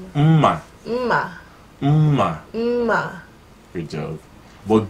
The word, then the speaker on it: mma: We call it mma.